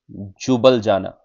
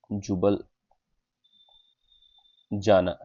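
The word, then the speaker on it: Ljubljana: जुबल जाना। जुबल जुबल जाना। एल is silent here जुबल जाना जुबली जाना जुबल जाना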